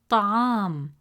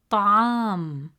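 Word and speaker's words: طعام: As a result, the correct pronunciation of the word is ta'am, ta'am. Remember, the letter ayn is one of the 9 deep letters in Arabic, pronounced from the middle of the throat.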